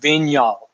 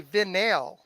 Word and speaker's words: Vignal: Sometimes people think it's French because you kind of roll the N, but that's how it's pronounced, Vignal.